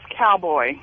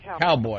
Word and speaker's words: Caoboi: His name is Cowboy. Oh, really? Yeah, even though it's spelled... Yeah, it's spelled Caoboi. All right, Cowboy.